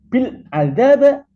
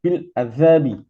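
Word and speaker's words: بالأدب: irab khofat adalah kasrah Jadi tidak boleh dibaca bilaba bilabu Bil adab salah yang benar adalah bilabi kemudian contoh berikutnya adalah wa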